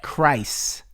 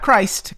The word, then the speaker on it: Chris: Chris. Not Christ, cuz there's no T, but Chris.